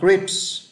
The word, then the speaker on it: crisps: Các bạn thấy âm luôn phải có âm Z ở cuối.